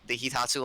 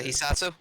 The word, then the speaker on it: Hisatsu: that the entire time, all you people have been pronouncing the line that you call the Hitatsu line wrong. I always pronounced it how the woman said it in the beginning of the game. And how'd she say it? A Satsu line. Oh, the Hisatsu? Yeah.